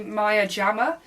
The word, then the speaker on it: Maya Jama: collaboration with my uyama I believe that's how you pronounce her name some people say Maya JAMA I think it's Miami I'm not sure if you don't know